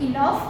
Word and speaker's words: enough: In these words, the word GH is given, letter GH is given. But though the sound of the letter GH is over here, we pronounce it as F.